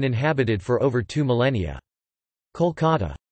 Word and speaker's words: Kolkata: the Bengali, Kalakata, although the city's name has always been pronounced Kolkata, Kolkat, a Bengali, Kolkata or Kolkata, Klikat, a Bengali, Kalakata in Bengali.